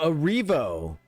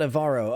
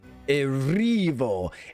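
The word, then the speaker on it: Erivo: I'm flipping the Oh, Arivo, not Avaro. Okay. Arivo. Arivo. Let's say it a few times so that it gets on my tongue. Cynthia Arivo. Well, I've been saying it wrong for decades. I've been saying this name wrong.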